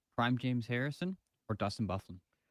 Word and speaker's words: Byfuglien: Byfuglien.